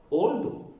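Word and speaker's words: although: ഏക്ക് ശേഷം എൽ എന്ന അക്ഷരം വന്നാൽ ഏയുടെ ഉച്ചാരണം ഒ എന്നാക്കുക. ഓ. ആൾ. നമുക്കറിയാം ആൾ. ഓൾ. ആൾവേസ്. ഓൾവേസ്. ആൾദോ. ഓൾദോ. Call. Call. Small. Small. Fall. Fall.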